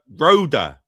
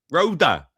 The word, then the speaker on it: Rhoda: It's pronounced Rhoda, no H. Rhoda.